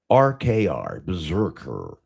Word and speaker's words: BRZRKR: It's spelled BRZRKR, Berserker, Berserker, I don't fuck it.